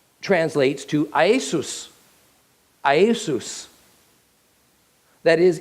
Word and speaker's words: Iesous: However, in Greek, his name translates to Iesus. Iesus. That is, in Greek, it's a 3-syllable word, Iesus.